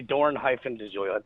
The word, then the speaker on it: Dorn-DeGiulio: So DeGiulio, am I pronouncing that right? It's DeGiulio. DeGiulio. It's actually Dorn-DeGiulio.